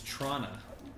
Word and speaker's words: Toronto: It's pronounced Toronto. Trana? It's Trana.